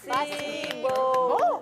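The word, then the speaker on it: спасибо: Ah, OK, mais on dit Spasiba. Parce qu'en russe, il y a ce qui est écrit et ce qui prononce, c'est pas pareil. Souvent, le O, tu prononces comme A.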